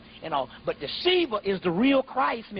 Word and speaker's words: Shiva: Yeah, it's S-I-V-A, but it's pronounced Shiva.